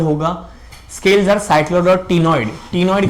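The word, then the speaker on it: ctenoid: Scales are cycloid और टिनॉइड। टिनॉइड का बच्चा स्पेलिंग ये रहा।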